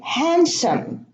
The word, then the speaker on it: handsome: Now, in Wednesday, handsome and handkerchief, we have a silent D in the middle. So it's not Wednesday and it's not handsome. It's not handkerchief. It's Wednesday. We pronounce it as a word, one word, not two words.